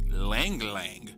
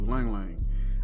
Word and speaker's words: ylang ylang: has lang lang so y-l-a-n-g y-l-a-n-g i okay so he pronounced it the same way i do lang lang i've heard somebody say ylang ylang and i just thought that was hilarious and i could be